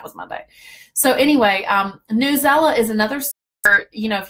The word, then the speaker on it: Newsela: as a review for newsela okay I always called that news ela so I'm glad I finally learned how to pronounce that but newsela is another